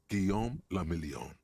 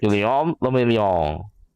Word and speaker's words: Guillaume Lamillion: Guillaume Lamillion. Guillaume If it Lamillion. doesn't rhyme, you're not pronouncing it right. Guillaume Lamillion.